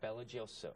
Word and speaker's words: BelGioioso: Belgioioso.